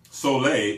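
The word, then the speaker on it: solé: Because Soleil, S-O-L-E with that little accent on the end, Soleil helps to cleanse the colon.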